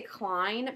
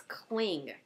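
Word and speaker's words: Kling: know it's Beth and I always want to say Klein but it's not oh here it is it's cling KL n g and that's a picture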